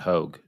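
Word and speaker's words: Hoge: out here at all I don't really want to pronounce it Hoagie either like I want to pronounce it Hogue it's not Hoagie to me I I I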